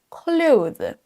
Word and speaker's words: clothes: Clothes. Peu de natifs le prononcent de cette façon parce que ça prend un petit peu de temps.